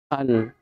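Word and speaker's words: ال: Al. Alif lam bacanya al.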